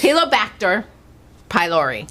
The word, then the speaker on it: Helicobacter pylori: Helicobacter pylori.